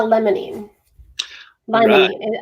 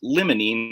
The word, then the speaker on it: limonene: right how about uh lemony limey i might be saying it incorrectly okay that's all right we're all learning here it's actually pronounced limonene like limousine okay all right citrus